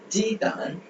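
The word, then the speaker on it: 鸡蛋: so the d வந்து the மாதிரி pronounce பண்ணுவோம். so தான். jidan jidan jidan jidan jidan jidan jidan னா எக்.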